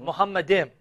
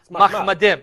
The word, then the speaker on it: Mahmadim: Now notice how he pronounced it, Muhammadim. Yeah. More accurately would be Mahmadim, yeah.